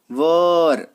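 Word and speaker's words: were: चलिए, अगर कहीं पे आपको वॉज या वर दिख जाए, देखिए ये वर, इसका प्रोनाउंसिएशन वेयर नहीं करते, है ना, वर।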